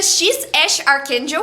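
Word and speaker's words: X Æ A-12: Não dá para esquecer o nome do filho do Elon Musk, que é X AE a- 12, mas que pronuncia X Ash Archakel.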